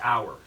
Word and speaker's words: hour: what do you like hour right hour that's the right way to say it hour yeah hour hour